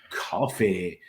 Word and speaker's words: Coffey: record, taking on Jonathan Coffey. Um, uh, like the drink, but not spelled the same, if you will, with a 5-2 amateur mixed martial arts record representing Mushindo martial arts.